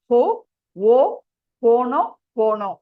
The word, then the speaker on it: Ho'oponopono: சோ அதை நீங்க எப்படி ப்ரொனவுன்ஸ் பண்ணணும் சொன்னீங்கன்னா ஹோ ஓ போனோ போனோ அப்படிதான் நீங்க ப்ரொனவுன்ஸ் பண்ண.